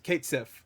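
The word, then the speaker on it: Cait Sith: And of course, Kate, is it pronounced Cat or Kate or Catch or something like that? It's Kate Sif. I'm gonna say Kate Sif. That's how I pronounce it.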